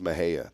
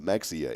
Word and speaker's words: Mexia: If you looked, what on God's earth would you think it was pronounced Mexia, Mexia? There's no way. No, I wouldn't pronounce it. I might say Mejia. But no, it's Mejia.